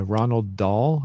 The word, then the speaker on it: Roald Dahl: So it was written by the book that was by Ronald Dahl. I think is how his name is pronounced, and he also wrote Charlie and the Chocolate Factory and Matilda.